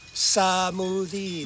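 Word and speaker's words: สมูทตี้: easy smoothie smoothie now did you notice it's it's not M smoothie it's samie we break into a yes You' got samie okay and what about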